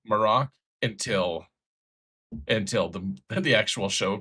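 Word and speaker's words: Marrok: They pronounce it Marok in the show, for what it's worth. I've been pronouncing it Merrick forever, but in the show That's they how call it I've been doing Marok.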